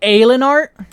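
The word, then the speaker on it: Haillenarte: Would it be Halenart? I guess it would be Halenart. Oh, it would be Aelinart? You don't pronounce the H?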